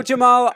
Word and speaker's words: Jaimal: Um our name my name looks like Jaimal which uh but it's pronounced Jamal and is a